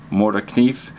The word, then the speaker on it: Morakniv: Brand name, I believe, is pronounced Mora Knife.